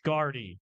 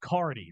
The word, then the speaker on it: Guardy: name one more time guardy rhymes with party some other words it rhymes with first they said cardi that's also a name like cardi B I wish I had